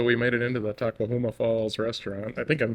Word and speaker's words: Tahquamenon: Tahquamenon rhymes with phenomenon.